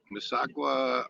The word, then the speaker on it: Mississauga: there 10 degrees here in mississauga pronounce it misawa ontario canada oh glad